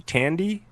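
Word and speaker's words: Thandie: Tandy.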